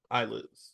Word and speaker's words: islets: Eyelids. Eyelids. Eyelids. The s is silent.